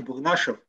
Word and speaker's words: Бурнашев: а звучит несколько раз, у меня ударение на немножко иначе, Бурнашев, да, то есть фамилия у меня тюркского происхождения. Да, это интересный нюанс, есть русская фамилия аналогичная, которая на «ов» заканчивается, поэтому путается.